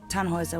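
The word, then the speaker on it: Tannhäuser: why what's your name tanhauser we'd pronounce it tanhuisa with an umlaut german roots yes my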